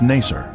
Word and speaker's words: Nasr: Its former name in the 19th century was Nasr. This pronunciation is similar to Nicer, a village that the Babylonian Berosus described as being near the Ark site.